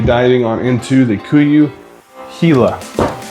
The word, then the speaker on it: Gila: I was calling it Gila and then once he said Hila was like, "Oh, duh." Yeah. Like, you know, the Hila monster, you know, hot down